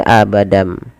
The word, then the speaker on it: abadan: Awalnya pakai n abadan. Abadan berubah menjadi abadam.